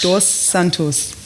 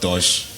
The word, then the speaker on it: Dos Santos: Yeah, it's Dos Santos. Dos, not Dosh.